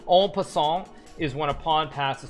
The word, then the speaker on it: en passant: Actually, Halifax is from Eastern Canada, so I should actually be pronounce it correctly. En passant is when a pawn passes through another pawn.